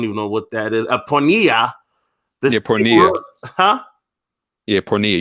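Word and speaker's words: πορνεία: Pornea.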